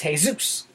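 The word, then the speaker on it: Jesús: who name their sons hey-zeus got in trouble when they went to school you know your son my son is name says oops boy spelled jesus but his name is hey-zeus it's not illegal to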